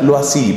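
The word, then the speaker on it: Loisy: apellido L-O-I latina S-Y, se pronuncia lo así, por supuesto, un apellido francés, L-O-I-S-Y.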